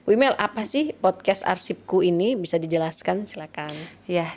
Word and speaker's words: Arsipkoe: Kali ini kita ngobrol tentang inovasinya Bu Imel yang diberi judul Podcast Arsipku atau Arsipkoe ya, tapi kita bacanya Arsipku.